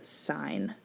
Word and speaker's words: sign: think about the word sign we don't pronounce the g in sign so is it just